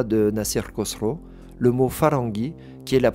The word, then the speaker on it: farangi: Le mot farangi qui est la prononciation iranienne du mot franc.